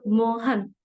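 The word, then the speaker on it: Mohun: shut so uh so moan but we say moan a m o h a n so it's m o hu n moan biswas so it I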